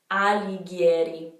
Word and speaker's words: Alighieri: Now for the last name, the GH in Italian is a hard G. Anyway, it's Alighieri, Alighieri. You'll start to hear all the patterns and it's gonna get easier, I promise.